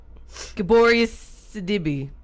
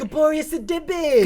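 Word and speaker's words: Gabourey Sidibe: This movie stars Mariah Carey, Monique, and Gaboria Sidibe. That's not how you say it. Gaboria Sidibe. Gaboria Sidibe.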